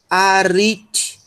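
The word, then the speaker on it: ἀριθμός: Então nós vamos ter rit, rit, a, rit. E nós temos, por fim, um mi, som de M, um ômicron, som de O, e um sigma, mos. E essa é a sílaba tônica.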